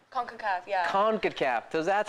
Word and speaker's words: CONCACAF: CONCACAF, yeah. CONCACAF. So that's how you pronounce it.